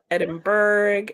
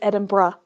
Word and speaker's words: Edinburgh: um yeah the city that most Americans can't pronounce correctly yes I can go through all varations yeah edinberg edin burrow um edin edin bro yeah it's edin bruh yeah I I know that but I'm not